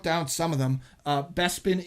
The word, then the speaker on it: Bespin: some of them uh bespin is bepin anded corusant is chorus can't was it George Lucas